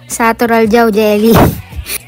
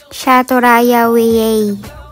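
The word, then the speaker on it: Sátoraljaújhely: Shaturaya we. Para mas clear ito yun. o ba ang layo sa satural jao jelly kasi nga yung pronunciation ng J sa Hungary is Y.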